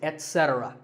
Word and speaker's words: etc: number three is etc a very common in correct pronunciation is to say ech etc instead of it don't say that and also remember that the stress is unset so the word is etc you will also hear